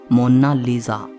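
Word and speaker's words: Monna Lisa: कोई इसे मोनालिसा कहता है तो कोई मोनालिसा कहता है, लेकिन इटालियन में इसकी करेक्ट प्रोनाउंसिएशन है मोनालिसा।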